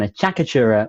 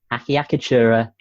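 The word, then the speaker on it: acciaccatura: that is what an achakatura or akiyakitura that's also correct you're allowed to say it like that if you want miss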